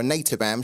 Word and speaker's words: Anathabam: Pre-tip scowl, in my name, the H is silent. Okay, so it's Anathabam, is it? Semantics. Right, so Anathabam gets the first dibs here, or Anathabam, should I say, because the H is silent.